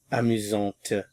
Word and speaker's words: amusante: To make it feminine, add the E. Amusante. Amusant. Amusante. Notice the difference in pronunciation.